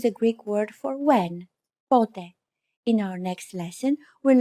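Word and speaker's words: πότε: that i should stress be careful that the accent goes on the first syllable pote if you put the accent on the second syllable for example pute it won't make much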